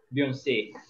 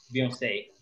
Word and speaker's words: Beyoncé: A entonação vai estar antes. Ok? Quando a gente fala Beyoncé. Beyoncé.